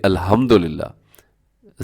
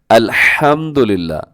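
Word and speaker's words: الحمد لله: तब्दील हो जाते हैं जैसे अल्हम्दुलिल्लाह यह इसकी दुरुस्त जो प्रोनाउंस एशन है वो यह है इसका मतलब यह है कि तमाम तारीफें अल्लाह के लिए लेकिन अगर कोई कह दे अल्हम्दुलिल्लाह सही क्या है अल्हम्दुलिल्लाह और गलत कैसे पढ़ द अल्हम्दुलिल्लाह नौजुबिल्लाह इसका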